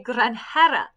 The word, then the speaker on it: granjera: She would be a granjera. Granjera. And when you're looking at these, you'll notice that this J is not pronounced with like a hard J like in English. It's a H.